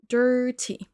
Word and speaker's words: dirty: Dirty. Faites bien attention à la première syllabe. On entend pas de i ici. Dirty. Dirty. On c'est quasiment un e.